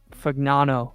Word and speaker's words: Fagnano: yeah they they've got Fano is how you say it um right he started